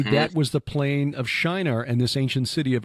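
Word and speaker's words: Şinar: Anyway, this location in southern Turkey is Shinar. It's just spelled with a C with the circumflex below it. C circumflex I-N-A-R.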